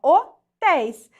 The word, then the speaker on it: hotéis: Qual que é a sílaba que está sendo acentuada? É a última sílaba, né? Então, aqui é uma oxítona, terminada em ditongo aberto, que é aquele ditongo